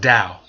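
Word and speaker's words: Tao: of people talking about tau but it's truly pronounced Dow you pronounce the T as a D check out the Dow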